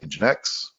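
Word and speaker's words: nginx: but they're also going to provide what is engine X X pronounced in genetics and then they talk about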